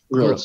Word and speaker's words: Grilc: Is it Grilc? Am I pronouncing that correctly? Grilc.